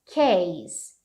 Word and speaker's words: case: Olha só, a pronúncia disso daqui é case. Case. Então, não é case, você não bota o Z. Isso aqui é a minha pencil case. Então, é um S no final.